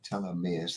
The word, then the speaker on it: telomeres: us some yays oh telomeres says Kelly tell her Meers that's how you pronounce it tell them is thank